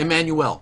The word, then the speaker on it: Emmanuel: It's a man. Emmanuel. Yes. Get it right.